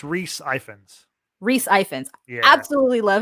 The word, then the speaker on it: Rhys Ifans: Otto Hightower, which is played by, and I can never pronounce his name, it's a very Irish name, I think. Rhys. No, it's Rhys Ifans.